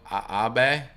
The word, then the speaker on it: Abe: someone said it's shinzo abe i'm sorry i'm an american shinzo abe i'm american we see abe we think lincoln you know shinzo abe